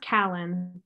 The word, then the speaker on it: Kallen: really throws people um it's pronounced Kalen like Allen with K in front of it yeah that was my